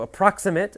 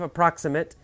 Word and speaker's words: approximate: So approximate, the stress is different. Adjective, approximate. Verb, approximate.